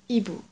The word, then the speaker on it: hibou: You don't pronounce the letter H, right? You can simply read it as hibou. H. Une H. Well, you spell this word with an H, but you don't say it.